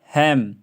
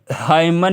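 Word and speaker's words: hymn: autumn column है ना हैम डम डम हाइम हाइम डम हाइम है ना हाइम डैम हाइम इसमें जो है हाइमन नहीं पढ़ र हमें डायमन नहीं पढ़ रहे हम इसको या इधर ओटोमन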